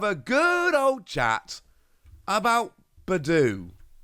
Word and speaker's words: Budew: good old chat about Badu which yes is a correct way to say it and the reason is